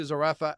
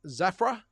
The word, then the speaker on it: Zerafa: And to the point where the interviewers, so the Boxing Voice, themselves referred to Zerafa as, what was that, Zafra? I think they pronounced his name, Michael Zafra.